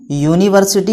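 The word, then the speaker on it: university: इसीलिए ए आर्टिकल लगा रहे हैं क्योंकि इसका प्रोनाउंसिएशन यूनिवर्सिटी हो रहा है, यो से हो रहा है,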